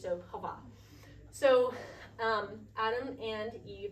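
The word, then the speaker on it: חוה: It's Hava. So it's like Eva but with an H at the front. And we don't pronounce the H. So Hava.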